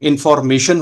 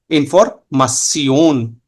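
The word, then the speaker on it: Information: जैसे इंफॉर्मेशन होगा आपका इंग्लिश में, बट जर्मन में इंफॉर्मासियोन। नेशन होगा तो हो जाएगा नासियोन।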